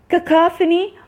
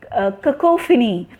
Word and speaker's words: cacophony: This is cacophony or cacophony according to the US, UK and US pronunciation.